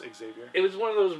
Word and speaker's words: Xavier: stupid it's it's pronounced Xavier it was one of those Rob lifel things that I knew that it's pronounced Xavier you're saying it wrong fair enough I don't